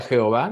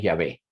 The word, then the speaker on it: Yahvéh: en el Antiguo Testamento no se pronuncia Jehová de ninguna manera de eso vamos a hablar un poco más adelante la pronunciación correcta es llave algunos le ponen acento otros no ve Checa W esos